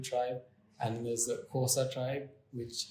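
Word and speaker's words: Xhosa: and then there's the kosa tribe which it's not pronounced Co side they've got the click that yeah I can't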